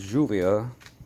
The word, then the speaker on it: lluvia: This is lluvia. It's pronounced lluvia, like it's Spanish for rain.